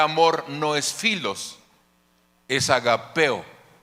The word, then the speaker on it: ágape: Cierra el apóstol Pablo hablando de agape o ágape, como alguno lo pronuncia, porque es el amor